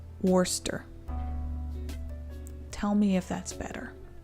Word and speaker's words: Worcester: It's pronounced Worcester. Tell me if that's better. Wooster or Worcester?